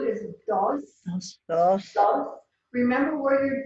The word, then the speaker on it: dos: Number 2 is dos. Dos. Dos. Remember where your D is. Tongue at the roof of the mouth behind the front teeth. Dos. So it's not dos, the way we say D's.